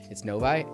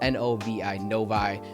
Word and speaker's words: Novi: advertise a Novi and I'm like it's Novi anyway just that's what it's called n o v i Novi that's how we pronounce it I don't know if that's phonetically correct or not but um Novi is